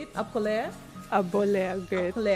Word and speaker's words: Apo: Appoh Leah.